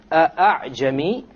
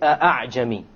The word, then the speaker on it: أَعْجَمِي: You don't say أَعْجَمِي. Rather, you pronounce it as follows. أَعْجَمِي. أَعْجَمِي. You don't pronounce it a full hamza, and you don't pronounce it as an alif, full alif. It is in between.